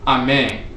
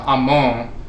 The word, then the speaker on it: Amen: So in ancient Kemet, sometimes there were different dialects, but typically the name is pronounced Amen. You have in Coptic, in some dialects, you have Amon, which, you know, passed